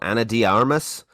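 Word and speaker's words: Ana de Armas: Anna de Armas. Yeah. Anna Diamas.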